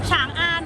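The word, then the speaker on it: 长安: ว่า ฉาง ใช่ มั้ย คะ ฉัง อัน ครับ ฉาง อัน ก็ คือ เป็น ค่าย ของ สัญชาติ อะไร คะ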